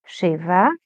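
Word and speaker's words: שבע: Yes, Sheva. It rhymes with Teva.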